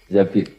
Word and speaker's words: Zabir: sama Abdurrahman bin Zabir di hadis ini bukan bacanya bukan Zubair tapi Zabir Abdurrahman bin Zabir tapi orang